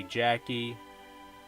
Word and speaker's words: Jakey: I don't know, it's spelled Jakey, but the characters in the movie say Jackie.